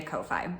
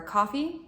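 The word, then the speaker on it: Ko-fi: and then last month I made a Kofi or a coffee I'm not really sure which pronunciation it is but it's k-o-f-i and social media fluctuates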